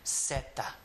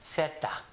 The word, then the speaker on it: zeta: People from Mexico and Central America are going to always call the letter zeta. In Spain, the Castilian Spanish will call it a theta. Theta. With a TH sound.